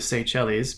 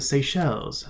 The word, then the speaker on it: Seychelles: just southwest of India I always pronounce that the say cellies because I don't speak French but in the audiobook they oppress the seychelles so there you go